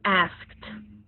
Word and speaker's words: asked: It's got an E and a D, but it still has the T sound at the end. So we have T in top, T in sitting, and T in asked.